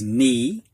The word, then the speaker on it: knee: to look at words with the silent k coming before an n and the first word is knee and i think that